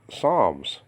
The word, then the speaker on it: Psalms: That, I mean, you don't pronounce the P, and you don't pronounce the P in the word, okay, all right, Psalms. It's silent, and then we carry that to Greek, that mentality, okay.